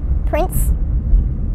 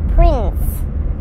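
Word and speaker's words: Printz: it but it's correct Prince Court Prince spelled not like Prince like royalty not like Prince like Kinkos it's spelled p r i n TZ Prince isn't that fun isn't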